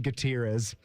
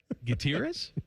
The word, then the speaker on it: Gutierrez: I had John Gutierz. Gutierrez, not Gutierrez.